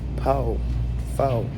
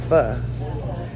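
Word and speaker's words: Phở: I've been pronouncing it as Pho or something like that, but we were corrected and it's called Pho.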